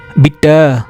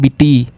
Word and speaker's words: bitte: B-I-T-T-E. Bitter, not bitty. Bitter. Okay. So we will not call E as E. We will call it as A.